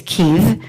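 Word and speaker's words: Kyiv: our services that that it's not kiev it's kiev um kiev is the soviet spelling and the soviet pronunciation and we need to recognize and honor ukrainian pronunciations and ukrainian spelling so try your best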